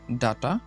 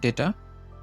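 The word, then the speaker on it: data: ৫ নম্বর শব্দটা, ৫ নম্বর শব্দটা এটা আমরা উচ্চারণ করি ডাটা অথবা ডেটা। এটা সঠিক উচ্চারণ হবে ডেটা, ডেটা, ডেটা, ডেটা।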